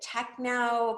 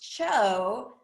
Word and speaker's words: TCHO: Other people pronounce it cho, or some people have heard pronounce it techno because they think it's some, abbreviation for that. It's actually pronounced cho, as in the first 3 letters in chocolate.